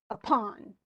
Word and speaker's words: upon: So if you go upon, is that correct? Or is it upon? Right. It's the on.